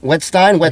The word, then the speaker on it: Wettstein: She wins fucking, doesn't even know how funny she is, but a fucking riot is Bryce Wettstein. Right? Am I saying it right? Wettstein?